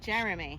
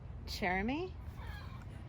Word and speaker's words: Jeremy: So he said his first syllable sounds like Jeremy. chair. Jeremy? It rhymes with chair.